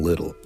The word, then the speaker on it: Lyttle: All right, so this is about a man named William Little, and that's in case you're taking notes. At home, that's spelled Lyttle.